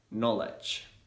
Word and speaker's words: knowledge: like an f normally the letter k is going to be silent when it comes before letter n say for example in the words night knife knowledge no me need yeah